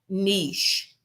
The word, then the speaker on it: niche: But friends, we pronounce that niche. Niche. It rhymes with sheish. It rhymes with sheish. We pronounce it niche. Okay. The the other less common pronunciation is niche.